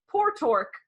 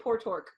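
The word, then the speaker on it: Portork: my name how about poor Tork poor I don't know if that's how you say it's pio RTO RK poor torque I would think it's port or a name port ork my ass repeats aloud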